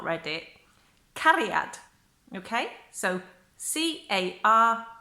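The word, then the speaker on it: cariad: book as well if you've not read it carry out okay so see a are IAD is pronounced carry out and that's actually quite easy and then the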